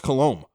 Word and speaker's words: Colomé: Well, it's Colomé. I had to look it up on Baseball Reference. They have a little pronunciation guide there, which I point Gene Honda